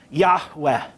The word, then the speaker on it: Yahweh: works but anyway but but we don't know exactly how it's pronounced but it's probably something like yahweh something like that yahweh or yahweh something sort of like that but we can't say